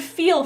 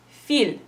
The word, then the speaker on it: feel: it would sound like feel, feel. And that is actually something that I've heard in students, feel. So instead, we actually pronounce it with a little bit of a semi-vowel in between.